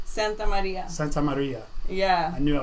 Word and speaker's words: Santamaria: Santamaria.